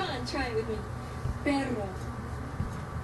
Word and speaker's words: perro: It's pronounced... Let's change character. Come on, try it with me. Perro. Perro.